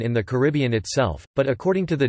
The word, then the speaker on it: Caribbean: common pronunciation in the Caribbean itself, but according to the Dictionary of Caribbean English Usage, the most common pronunciation in Caribbean English is in fact on the first syllable, car, bn.